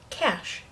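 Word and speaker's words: cache: poodle fun to mispronounce this word sounds just like cash no yes so yeah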